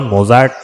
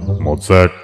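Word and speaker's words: Mozart: আছে কিন্তু আপনার নেই কি রকম হাইড্রন মোটার্ট বেটাফেন এই হলো আসল উচ্চারণ হাইড্রন মোটার্ট বেটাফেন থ্যাঙ্ক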